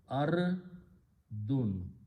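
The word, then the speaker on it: أرض: One more thing I want to point out is that this word ardun has this kind of hamza to pronounce, ardun. This is not hamzatul wasl anymore.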